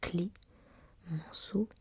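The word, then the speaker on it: Clemenceau: Bien que la prononciation du patronyme du tigre soit clé, Manceau, on ne met pas d'accent aigu sur le premier E et on écrit donc Georges Clémenceau.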